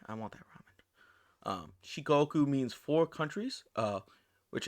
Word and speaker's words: Shikoku: the island shiko shikoku i think i was pronouncing that wrong before shikoku another important chain of islands is okinawa located